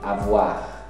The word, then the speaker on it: avoir: Ser, estar e o verbo ter e haver, o verbo avoir, esse aqui se pronuncia, que é o R.